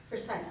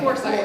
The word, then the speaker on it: Forsyth: Raise your hand if the proper way to pronounce the name of this county is for sight. For sight. It's for sight. But but then some people say foresight which is how I used to say it.